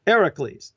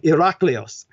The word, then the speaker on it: Hercules: half human half divine like Eric Lee's which is the correct pronunciation for Hercules the original Ln agression actually being Iraq Leo's now in terms of